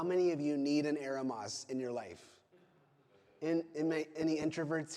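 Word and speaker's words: ἔρημος: Eremos. Okay, eremos.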